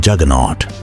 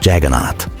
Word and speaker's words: Jagannath: The English word juggernaut is a mispronunciation of Jagannath, and the story of